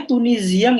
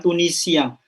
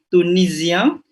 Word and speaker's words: tunisien: Oh, bacanya tunisien ya, maksud bukan tunisien. Mais non, S-nya entre deux voyelles, donc mendesis Z, tunisien. Il a 32 ans.